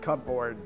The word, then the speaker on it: cupboard: Okay, first of all, I had never heard the word cupboard. Ah. How do you pronounce a cupboard?